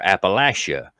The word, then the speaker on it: Appalachia: Is it Appalachia or Appalachia or Appalachia?" And I'm like, "Well, technically, they're all right."